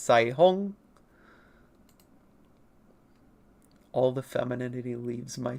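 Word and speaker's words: Caihong: Mandarin, technical correct pronunciations, this is not pronounced Kai Hong. Mandarin and Chinese in general is a very tonal language, so it's very difficult for me to pronounce. But this name, not Sai Hong, it's named as Rainbow. It's pronounced to the best of my ability, Sai Hong.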